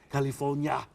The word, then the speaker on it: California: California. It's not Cali.